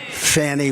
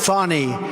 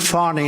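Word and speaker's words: Fani: happening in Georgia with the horrible case of Fanny Willis it's it's actually pronounced fonny it's F A an I but you pronounce it fonny a little French accent there fonny but that's a ter thing but so Meritt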